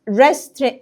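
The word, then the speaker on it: wrestling: روين رمي القرص ديسكاس الدبليو لا تنطق فبقت ريست مصارعه ارشري ارشري ارشري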